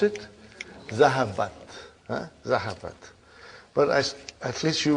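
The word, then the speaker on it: ذهبت: How do you pronounce it? Zahabat.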